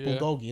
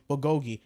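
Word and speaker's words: bulgogi: for Bui which is a type of beef Bogi that's how okay sorry that's how you pronounce it Bogi it's really good one of them ones bro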